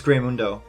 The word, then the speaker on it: Greymundo: It's Greymundo. That's the correct way to say his name, sir.